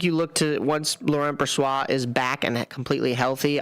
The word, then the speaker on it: Brossoit: Which is also one of the things where I was going to ask you about Brossoit.